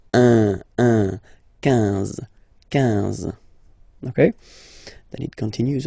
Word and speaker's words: quinze: K, quatorze, quatorze, okay, same thing here, U doesn't exist, so quinze, quinze, quinze, all right, IN, nasal, so it's un, quinze, quinze, okay, then it continues, of course.